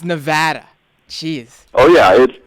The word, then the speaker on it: Nevada: It's Nevada. Jeez. Oh yeah, it's Nevada. I notice out here in the East, people pronounce it a lot differently, but I'm willing to overlook it.